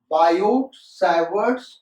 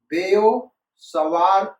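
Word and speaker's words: Biot–Savart: ऐसा generally school में बोला जाता है, लेकिन प्रोनाउंसिएशन इसका ये नहीं है बेटा। मैं फिर से कहता हूं, स्कूल में 99% टीचर और स्टूडेंट्स इसको बायोट सावर्ट्स लॉ कहते हैं, लेकिन इसका करेक्ट प्रोनाउंसिएशन है बेयो सवार लॉ।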